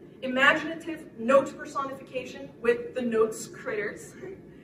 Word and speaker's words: Gnotes: note personification with the notes Critters silent G again like gnomes they they look gnarly